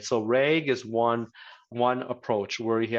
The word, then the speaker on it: RAG: Is RAG, I was calling it RAG, so the right pronunciation is RAG.